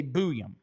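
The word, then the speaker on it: Buium: Twitter the other day because you say Booyam. That is the way all of the college announcers pronounce it, is Booyam. On the Elite Prospects pronunciation guide, it's Zeev Booyam.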